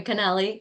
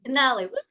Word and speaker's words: Canale: time how are you I'm great handsome Canali am I pronouncing it right you are Canal Canali I got it right how are you today